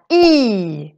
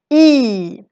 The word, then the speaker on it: i: story the ad e this is the little nasal vowel it's actually also a letter it's a letter and a word e e it's a little bit like i'm doing this e e is how we say in in swedish but it also has